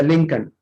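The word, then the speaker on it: Lincoln: Norfolk, would, yoke, Chowk, लिंकन, इसमें L silent होता है, लिंकन।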